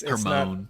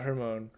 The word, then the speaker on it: Hermione: It's Hermione. It's not Hermione.